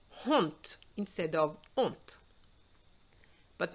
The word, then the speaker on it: honte: So you would really pronounce the H, honte, instead of honte. But nowadays, there's no difference in terms of pronunciation because the H is just silent.